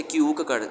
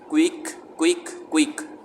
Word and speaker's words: quick: TCH की च, picture, together, क्विक, अक्सर बच्चे से क्यूक पढ़ते हैं, क्विक।